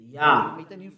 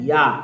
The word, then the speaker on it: Yah: His name is Yah. How to pronounce it? Yah. According to the Hebrew. When you see this word, it is read Yah in Hebrew.